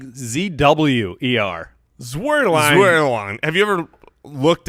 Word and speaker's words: Zuerlein: ZUERLINE. No, you're both very close. But I'm not telling you other than you were both wrong. Okay. Well, ZUEROLEIN.